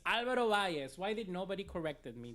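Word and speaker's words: Álvaro Valles: And Ferran Torres does an incredible half volley through the legs of Alex Valles. And yeah, or is it Alvaro Valles? Am I saying his name wrong? It's Alvaro Valles.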